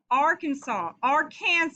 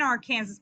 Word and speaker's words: Arkansas: Arkansas is how they say it in Arkansas, but it's Arkansas in most other places. It's French. That's why it's different, okay?